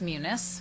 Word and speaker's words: Munis: It's pronounced Munis.